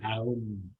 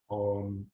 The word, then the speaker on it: Aum: Le son, puis on est supposé prononcer Aum et non pas Om.